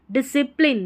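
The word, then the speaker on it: discipline: पढ़ना है, DISCI, डिसी, यहाँ पर PLIN है, इसको प्लाइन करके नहीं पढ़ना, प्लिन, PL को प्ल पढ़ते हैं, ठीक है, और वैसे आप तोड़ेंगे तो LINE लाइन बनेगा, नहीं, डिसिप्लिन, याद रखिए, अनुशासन रहता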